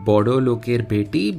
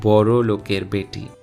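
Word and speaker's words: বড় লোকের বেটি: Notice how the lyrics read Bodo Loker Beti, but it is pronounced as Boro Loker Beti.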